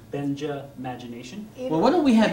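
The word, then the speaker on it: Benjamagination: Think of the first part of the name Benjamin, Benja. Yeah, and Benja. The last part of the word imagination, imagination. So Benja, imagination.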